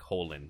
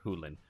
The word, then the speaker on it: Hochland: I keep saying Hochland, but apparently it's like Holland or Hulen. I can't remember which one.